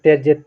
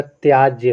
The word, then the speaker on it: त्याज्य: आपका क्या होता है बहुत लोग उच्चारण तज करते हैं लेकिन तज नहीं होता त्याज्य होता है या पर आ की मात्रा आ जाएगी है ना आगे आपका